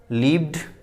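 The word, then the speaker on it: lived: कुछ वर्ड ऐसे होते, कुछ वर्ड्स ऐसे होते हैं जिनके लास्ट में ईडी लगा रहता है, तो उसका जो प्रोनाउंसिएशन करते हैं तो डी ही प्रोनाउंस आता है, ठीक है। उसका जो प्रोनाउंसिएशन आता है डी से ही आता है।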